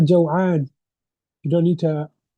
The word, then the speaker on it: جوعان: So the masculine is what? جوعان and not جوعان. And if you just speak, you can say أنا جوعان.